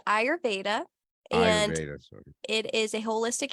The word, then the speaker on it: Ayurveda: explain what the Aero aerovada I probably butchered that yeah it's called ayurveda and it is a